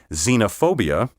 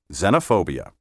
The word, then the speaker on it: xenophobia: are probably foreign spies pronounce these words with a short e say xenophobia xenophobe and xenophobic word 20 quotidium q-u-o-t-i-d-i-a-n